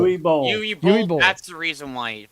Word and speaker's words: Uwe Boll: Uwe Boll. Uwe Boll.